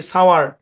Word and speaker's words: sour: SOUR উচ্চারণ কি? সাওয়ার। সাওয়ার। সাওয়ার মানে কি?